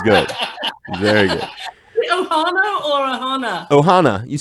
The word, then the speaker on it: ohana: Ohana or ohana?